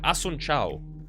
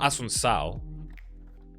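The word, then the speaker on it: Assunção: It's not Asun Sao. True? No? Oh, it's Asunsao. Okay, so C with the accent is an S.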